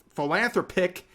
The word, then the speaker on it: philanthropic: you watch my video it's philanthropic the pronunciation is philanthropic I love you re but that's how you pronounce it financial and other